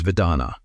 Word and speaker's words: vedanā: The Pali word is vedanā — say it like "veh-DAH-na."